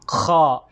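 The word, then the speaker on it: خ: ay yung kha pala, yung pagbigkas ng kha, ay kailangan din itong bilog yung ating bunganga. Kha. Okay, para ka lang magdudura. Ay, ito yun ang ilalamunan ko. Kha. Ayan. So, kailangan medyo bilog talaga yung ating bunganga, hindi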